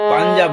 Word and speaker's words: পঞ্জাব: জনগণ গামাপা, জনগণ মন অধিনায়ক জয় হে, মাপাদা, ভারত ভাগ্য বিধাতা, ভারত পা, ভাগ্য মা, বিধাতা মা রে মাগা, পঞ্জাব, পাঞ্জাব নয় কিন্তু পঞ্জাব, পঞ্জাব গানি, সিন্ধুনি, গুজরাটনি,